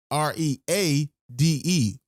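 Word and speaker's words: Reade: name is spelled tara t-a-r-a her last name is spelled r-e-a-d-e read okay that's how you spell her last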